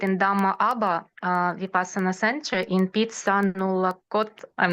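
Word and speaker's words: Phitsanulok: going to sit in Dhamma Vipassana Center in Pitsanulakot. I'm not sure if I pronounce it right. It's like 5 hours. Yes, maybe. Yes, yes. 5 hours to the north of Bangkok. Thailand, yeah, Bangkok. It's Pitsanulok.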